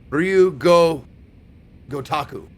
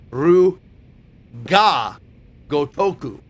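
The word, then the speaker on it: Ryu ga Gotoku: Oh, it is Gotoku. Man, I've been saying it wrong all the time. Right? Ryu ga Gotaku. Oh, it's ga Gotaku. I was always saying Ryu go Gotaku. But the actual is Ru ga Gotoku.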